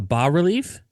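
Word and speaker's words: bas-relief: A ba relief? Yeah. God damn. I've been saying it wrong all these years. But go on. Oh yeah, the S is silent.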